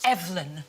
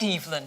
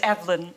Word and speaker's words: Evelyn: Actually, it's Evelyn, not Evelyn. Oh, is it? Yeah, it's Evelyn. Yeah. It's like a Scandinavian pronunciation.